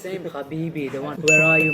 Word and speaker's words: Habibi: It's Habibi, not Habibi. What do you Habibi. say? He can't pronounce ha.